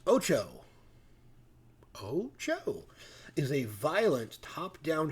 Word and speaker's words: OTXO: OTXO, pronounced Ocho.